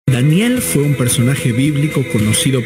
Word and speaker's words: Daniel: Daniel fue un personaje bíblico conocido por su sabiduría y su capacidad para interpretar sueños y visiones. Su nombre en hebreo, que se pronuncia igual al español, Daniel, significa Dios es mi